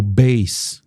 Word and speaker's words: bass: antes significa mar mas essas duas palavras o base do instrumento ou das notas e o b